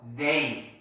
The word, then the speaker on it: they: They. 자 여기다가 발음 적으세요.